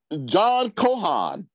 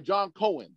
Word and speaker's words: John Cohen: to this this so john cohan i'm sorry john cohen i'm mispronouncing names over here john cohen a